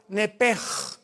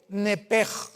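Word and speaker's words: נפש: En el hebreo se pronuncia la sh como j. Nepej es la palabra alma en hebreo. Nepej.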